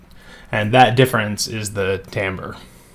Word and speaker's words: timbre: Now, it's spelled like it should be timber, but it's actually, for complicated etymological reasons, pronounced timbre, or if you're being super fancy, timbre. I don't care how you pronounce it, and I mess it up all the time, but I'm going to generally try and stick to timbre.